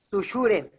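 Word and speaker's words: Saussure: Es Sushure, ¿no? Ándale. Sí, doble C.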